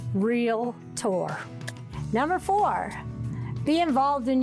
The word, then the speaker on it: Realtor: a real estate professional please please learn to say it right real tour number four be involved